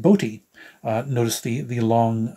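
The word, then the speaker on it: Botti: area Chris B is his name it's not pronounced B it's pronounced bti uh notice the the long uh the bar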